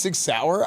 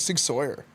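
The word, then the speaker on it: Sig Sauer: It's pronounced six sour. I thought it was I always thought it was six sawyer.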